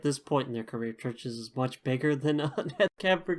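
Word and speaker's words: Chvrches: Also, this has uh it doesn't say featuring, but it features vocals from Lauren Mayberry, who's the lead singer of Churches. Church is spelled with a V.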